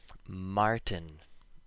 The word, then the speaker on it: martin: When the letter T appears before an N, and they are separated by a short I sound, so the vowel, not always an I, and N together rhyme with in, the T makes no sound when we speak fast.